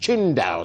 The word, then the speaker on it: Qingdao: do beg your pardon it's pronounced qin dao si win biotech company private limited thank you to sharon ranatunga who's who's not agreeing that i speak enough chinese i don't qingdao qingdao now what no what